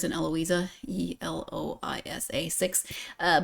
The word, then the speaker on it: Eloisa: five letters in eloisa e l o i s a six uh but it's four syllables there's almost as many syllables as there are letters this is the way